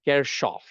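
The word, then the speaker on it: Kirchhoff: And they said, you know, Kirkoff, KCL, and KVL. I like what? So there's a German researcher. The actual pronunciation in German is Kerchov.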